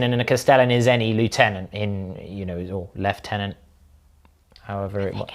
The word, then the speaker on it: lieutenant: It's meant to be lieutenant if you're English. It's lieutenant if you're English. The French loan word that is pronounced the French way in the English language, except the French don't pronounce it as lieutenant.